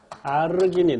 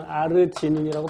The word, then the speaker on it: 아르기닌: 어린 아희들의 경우에 아르기닌 또는 아르지닌이라고 발음하죠.